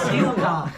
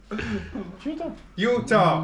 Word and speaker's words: Utah: Not two syllables. Utah. Utah are two syllables.